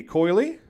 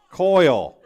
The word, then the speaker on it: Coyle: number 62 coyly did i say that wrong again how do i say it coyle i remembered you come and told me i said it wrong in volleyball but i couldn't remember how i said it wrong so coyle coyle i apologize i